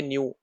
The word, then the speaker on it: Niue: ठीक है, न्यू, NIUE है यहाँ पे। ठीक है, NEW नहीं है, NIUE है।